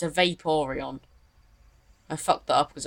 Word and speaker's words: Vaporeon: It's not a Vaporeon, it's a Vaporeon. I fucked that up because I was meant to say Vaporeon.